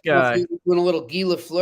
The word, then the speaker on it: Guy: Do we pronounce it Guy? Yep, it's All right. pronounced Guy.